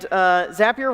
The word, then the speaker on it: Zapier: We have over 4 million people using Zapier, and Zapier rhymes with happier.